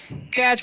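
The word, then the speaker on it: catch: इसे क्या पढ़ेंगे हम कैच पढ़ेंगे ठीक है टीसीएच का उच्चारण जो है च हो जाता है तो कैच का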